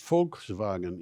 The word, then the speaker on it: Volkswagen: I can tell you Volkswagen is pronounced Volkswagen in Germany but ID Buzz I'm